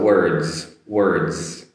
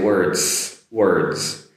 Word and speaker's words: words: But the D and S together comes across as a Z sound. So words. Notice I don't say words.